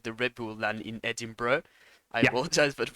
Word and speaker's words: Edinburgh: official cutter of the Red Bull land in Edinburgh I apologize but the pronunciation is wrong and all the years no